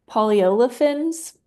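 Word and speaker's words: polyolefins: for, and I could be butchering this word, polyolifins recycling facility since the objects turn into shards after shredding.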